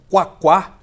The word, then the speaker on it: Quaquá: Nacional do PT Washington quaquá é isso mesmo é isso mesmo quaquá quaquá é a pronúncia certo Ele defende a criação